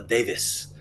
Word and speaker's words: Davies: we're both missing like between Davies and Davis I mean it's like we hear him introduce himself as Russell the Davis so yeah right I'm going